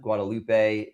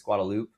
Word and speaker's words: Guadalupe: So, there's a lot of examples of that, you know, it's not Guadalupe, it's Guadalupe.